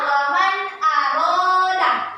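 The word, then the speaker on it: وَمَنْ أَرَادَ: Contohnya waman aroda. Waman aroda. Jadi cara bacanya itu jelas antara nun sukun dan hamzahnya bacanya jelas waman aroda.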